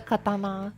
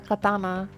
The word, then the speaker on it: katana: So, I'm going to guess in English you can just like stress the second stress the second syllable.